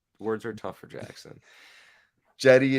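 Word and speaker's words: Cedi: Jetty is how it's said because he's Turkish and the C. It sounds like Yeah. Jedi, but like Jetty.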